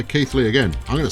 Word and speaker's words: Keighley: I went with Kaylee and indeed Keeley, and was met with derision in the comments from someone who kind of goes, it's obviously neither of those things.